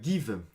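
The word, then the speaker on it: Geev: Et donc c'est l'application Give, ça s'écrit G-E-E-V, donc vous la trouverez sur Android, sur iOS, il y a un site web qui existe.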